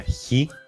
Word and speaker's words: Χ: Seguimos con la letra Ji, que se pronuncia J, como por ejemplo en la palabra jara, que significa felicidad. La letra Ji se pronuncia de manera muy parecida a la letra J del español, tal vez un poquito más suave, pero si al principio la pronuncian exactamente como la J, no se preocupen porque se entiende perfectamente.